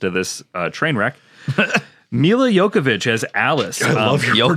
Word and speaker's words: Jovovich: Mila Jokovic as Alice. I love your Jokovic. To me, it's I've heard Mila Jovovich.